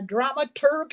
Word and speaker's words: dramaturg: So we are here talking to the director, Chad William Baker, and the dramaturg, if I'm pronouncing that right.